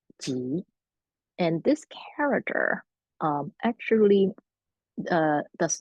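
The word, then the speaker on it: 集: Chinese character that it's pronounced in Mandarin as Ji.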